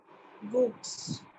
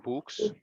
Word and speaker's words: books: Books, Okay. books, So it should be books. Okay, not books. books, Don't stretch the oo sound. A shorter vowel sound.